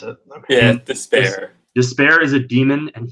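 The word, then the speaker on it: D'Spayre: as as you think so that's how you pronounce it despair despair is a demon and he's a fear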